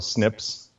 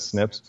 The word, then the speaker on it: SNPs: scientists just call the snips snps and they just pronounce it as snips and a good example